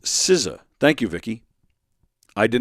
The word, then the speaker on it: SZA: Oh, it's pronounced SZA.